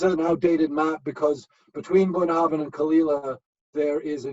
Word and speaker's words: Bunnahabhain: The one on the top right, Bunnahabhain. Bunnahabhain. Say that when Bunnahabhain. you're drunk a few times. Bunnahabhain. Bless you. And yeah, so and actually this is an outdated map, because between Bunnahabhain and Kalila there is a new distillery called